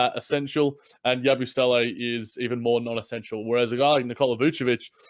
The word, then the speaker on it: Yabusele: I want to hear Kory say Yabusele before we move on. I'm not gonna lie; it took me a second to pronounce that because go ahead, Kory. Yabusele. There's only one S in his name, bro.